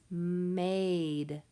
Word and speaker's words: maid: The next word is maid. M-A-D. Maid. I can hear that A is making the A sound, so that means it is a long A word. And I can also see that silent E right on the end.